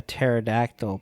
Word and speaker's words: pterodactyl: can't you hear a pterodactyl p because they're extinct because the p is silent because there's pterodactyl there's